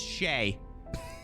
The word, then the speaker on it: Shay: you'd be back yeah this guy's name is Shay like no joke that's how it's pronounced I did I'm sorry